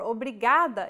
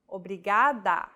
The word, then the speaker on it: obrigada: is pronouncing this sound think of the quick tapping motion your tongue makes as it strikes the top gum ridge in words like ladder